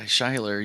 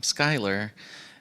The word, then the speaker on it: Shyler: On the other side, as someone with a different name, I go by Shyler usually my whole life, but sometimes people pronounce my name Skylar. And I've heard people say, no, their name is Shyler.